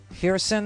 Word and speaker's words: Kherson: Kherson, the K is silent.